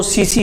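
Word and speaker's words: tsetse: अंग्रेजी में उसे टीएससी लिखते हैं, लेकिन जो उसका उच्चारण होता है वो सीसी होता है।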